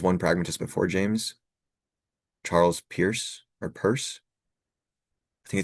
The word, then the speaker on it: Peirce: Yeah, it's a weird spelling. So it's like Pierce. I don't even know how to use Peirce. It's pronounced Peirce.